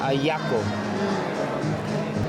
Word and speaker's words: Ajiaco: <font color=#E9AD2EFF>Yeah.</font> <font color=#E9AD2EFF>This one is Sobrebarriga en Salsa,</font> (Failed attempt at pronunciation) <font color=#E9AD2EFF>and this is Ajiaco.</font> And... <font color=#E9AD2EFF>Ajiaco.</font> Ah-jee-ah-co.